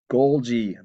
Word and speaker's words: Golgi: Golgi bodies. Again, the G. Should be Golji if they're going to pronounce it that way.